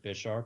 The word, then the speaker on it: Bisharp: I guess you'd pronounce it Bisharp since it's based off the Bishop chess piece.